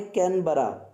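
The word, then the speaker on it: Canberra: ही बोल दिया कि कोनीबेरा। उन्होंने कहा very good but pronunciation is wrong, that is कैनबरा।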